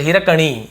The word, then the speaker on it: हिरकणी: translation हिरकणी ठीक है कणी ये एनई को नी भी लिखती है और बाण के अड़ जो होता है हिंदी में वैसे हिरकणी ये इसका शुद्ध उच्चारण है चलिए देखते हैं क्या